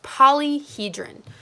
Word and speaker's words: polyhedron: a fancy word but how you pronounce that is polyhedron and all it is